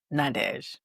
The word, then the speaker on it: Nadhege: Nadesh.